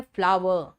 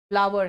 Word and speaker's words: flour: इसका मतलब है एक का आटा एक का फूल, और दोनों का प्रोनाउंसिएशन है फ्लावर, फ्लोर नहीं है, वो फ्लावर है।